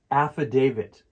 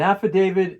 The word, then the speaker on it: affidavit: For the pronunciation of affidavit, the stress is on the third syllable, affidavit.